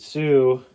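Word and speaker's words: Sioux: and for the record Sue is spelled s IO ux uh we know there's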